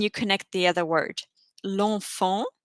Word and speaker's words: l'enfant: L'enfant, the child, would actually be le enfant. Le is male. And because you have an E and an E coming together, you cut off the E and you replace it with an apostrophe, l'enfant.